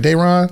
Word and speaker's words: Daeron: Daeron?